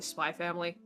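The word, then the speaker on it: Spy × Family: x family it it's it's probably spy family yeah you're not supposed to pronounce it don't put an x don't put an x in your name if you don't expect people to say it yeah that so i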